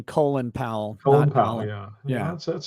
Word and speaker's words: Colin Powell: in history you call him by the proper pronunciation colin powell yeah yeah that's how he pronounced it you